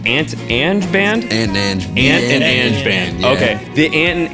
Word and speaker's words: Ang: I am here with, I forgot to ask you guys how to pronounce it, Ant and Band? Ant and Ange Band.